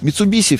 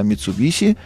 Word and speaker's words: Mitsubishi: Кстати, примечательно, даже сами японцы это название произносят через «ше». Они говорят «Mitsubishi». Ну, мы вот привыкли немножко сюсюкать с этой маркой, хотя «Toshiba» у нас через «ше», а «Mitsubishi» у нас через «с».